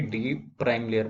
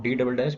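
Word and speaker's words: D″: डी डबल डैश नहीं बल्कि डी प्राइम लेयर बोलते हैं इसको, ठीक है ना। बहुत सारे लोग इसे गलत प्रोनाउंस करते हैं, इट्स नॉट डी डबल डैश बट इट्स डी प्राइम लेयर।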